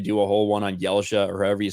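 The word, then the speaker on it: Ylesia: those went but i'm not sure i've always pronounced that like elysia i don't know if that's right or not i think that's completely right uh but i i always said yellja because that's how i pronounce it that's completely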